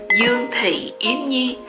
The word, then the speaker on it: Dương Thị Yến Nhi: Okay, first thing, my full name is Yun Pi Yun Yi. That's how you pronounce my full name in Vietnamese, because I'm a Vietnamese and I'm proud to be a Vietnamese.